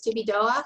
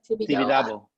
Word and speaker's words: Tibidabo: the Miró Museum, but there's also am I pronouncing it right? Jesus Tibidoa? CJs? No, the amusement park that's on top of the. Oh. I have a mug that from it. It's like Tibidabo or Tibidoa. Tibidabo.